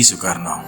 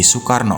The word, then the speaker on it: Soekarno: Namun karena sering sakit, namanya kemudian diubah menjadi Soekarno oleh ayahnya. Nama tersebut diambil dari panglima perang dalam kisah Baratayuda, yaitu Karna. Dalam pelafalan Jawa, huruf A dilafalkan menjadi O dan ditambahi dengan kata su yang artinya baik.